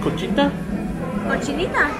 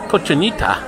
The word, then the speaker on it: cochinita: I'm looking for a food that's called kojinta the correct pronunciation is cochinita I don't know what